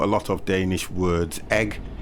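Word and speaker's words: æg: lot of danish words egg is danish oh it's pronounced exactly the same and spelt a e oh okay you see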